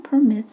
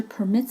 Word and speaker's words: permit: is very special because it has two different pronunciations with two different meanings the first pronunciation is permit which means to allow an example is the town permits skating on the pond